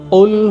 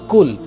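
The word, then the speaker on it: قُلْ: কিন্তু এই কুল লিখতে যেই কফ রয়েছে, দুই নোক্তাওয়ালা যে কফ, এই কফ দিয়ে না বলে অধিকাংশ মুসলমান সাধারণভাবে বলে কুল, কুল হু আল্লাহু আহাদ। যদি আপনি কুল বলে থাকেন, অর্থ কি দাঁড়ায়?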